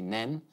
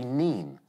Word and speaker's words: Nene: In Northampton, they say Nen. In Peterborough, they say Neen.